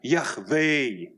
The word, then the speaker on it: Yahweh: And he said, I am Yahweh.